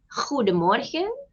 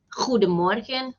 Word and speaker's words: goedemorgen: It's goedemorgen, goedemiddag, and goedenavond. Some people pronounce the letter D, goedemorgen, goedemiddag, goedenavond. And some people pronounce it as goedemorgen, goedemiddag, goedenavond. That's also correct.